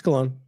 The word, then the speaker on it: Cologne: Like Bologna, it's differently pronounced by different people. Let's see, right here. Cologne. Yeah, it's Cologne.